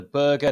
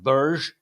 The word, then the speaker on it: Berge: man and of course we lost a sander Berger now apparently it's pronounced Burj this whole time the lies just continue but